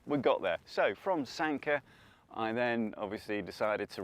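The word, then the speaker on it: Sanquhar: And I think it's pronounced Sanka because I spoke to a lovely Scottish lady from ScotRail who told me exactly which train I wanted to be on and how to pronounce Sanka as well, which is Sanka.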